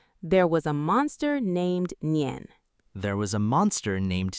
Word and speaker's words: Nian: His name was Nian. That's spelled Nian.